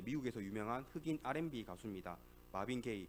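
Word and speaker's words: Marvin Gaye: 마빈 게이, 그 동성애 게이랑 발음 비슷한데 철자가 좀 다릅니다.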